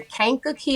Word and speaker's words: Kankakee: Yeah, so again, born and raised in Kankakee, Illinois. I know you all are like, how do you spell that? How do you pronounce it? Well, repeat after me, Kankakee.